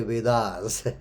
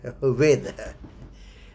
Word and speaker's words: Veda: In English we say Vedas, Veda. The correct word or the pronunciation is Veda.